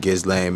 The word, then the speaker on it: Ghislaine: I'm not gonna ignore the fact that he was on Ghislaine Maxwell's co-defendant list.